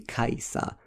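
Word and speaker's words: Kiesza: s z so um a lot of Americans and like UK people skip the Z like like they say like silent Z you know do you know that her name is spelled Kaa with silent Z kaisa Kaa Kaa Kaa but I'm like then why would you put this Z here it's Kesha in in Polish s z in Polish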